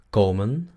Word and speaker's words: komen: Luego tenemos el verbo venir, komen, komen, komen. La O es larga, komen.